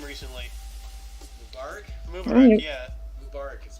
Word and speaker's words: Mubarak: Mubarak is pronounced.